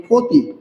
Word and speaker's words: ক্ষতি: একটা শব্দ লিখলাম প্রথমে ক্ষতি শব্দ লিখলাম ক্ষতি এই ক্ষতি শব্দের খিও কোথায় রয়েছে? নিশ্চয়ই প্রথম বর্ণে রয়েছে। আমরা শিখে ফেলেছি অলরেডি। যদি শব্দের প্রথম বর্ণে থাকে তাহলে তার উচ্চারণ হয় খ এর মত।